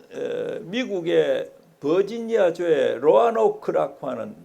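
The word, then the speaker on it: Roanoke: 그 저 미국의 버지니아에 로아노크 하는 뭐 보통 발음할 노크라도 하고 현지 발음으로는 로아노크가 붙어서를 그를 하면 오로 해가 로노크 이렇게 하는데 현지에서는 로아노크라고 이렇게 부르는 거기에서 공무를 했습니다 공부를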